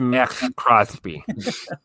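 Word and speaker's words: Maxx Crosby: It's pronounced Max Crosby.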